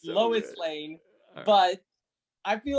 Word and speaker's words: Lois Lane: rewind the movie because he thought batman said lewis lane i was like there's no way that snyder